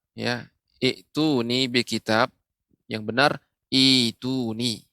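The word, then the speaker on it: ائتوني: Sehingga termasuk dari mad badal, dibaca dengan ituni bi kitab. Ya, jadi jangan sampai salah, jangan sampai kita keliru dalam membaca surat Al-Ahqaf ayat 4. Ya. Cara membacanya adalah ituni, bukan ituni.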